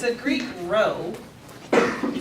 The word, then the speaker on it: rho: If you want to use the corresponding Greek letter that goes for the population, it's a Greek rho. You spell it R-H-O, rho.